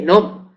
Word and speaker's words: gnomo: G con la l o gnomo que gnomo sería no se pronuncia gnomo se dice nom Pero sabemos que la